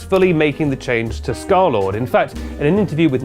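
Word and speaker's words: scarlxrd: music video girlfriend under his new name scarlord which is pronounced like that but spelled like this he likes to replace o's with x's well actually I think vowels with x's there's some x's in there somewhere and in 2017 he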